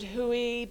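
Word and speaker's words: Hooe: is it who is it Huey it's spelled h-o-o-e and so one of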